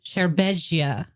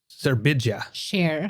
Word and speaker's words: Serbedzija: And his last name is spelled Serbedzija, and I think it's Sherbedzia. Serbedzia. I think it's Sherbedzia. Yeah. Or Sherbedzia. I don't know where the emphasis is.